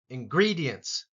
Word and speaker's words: ingredients: is not silent recipe ingredients and GRE gets the emphasis here ingredients simmer boil boil